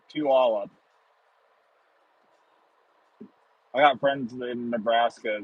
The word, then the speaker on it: Puyallup: Ah, Puyallup. And some of you in the chat are going, huh? Yes, that's how you pronounce that. Puyallup.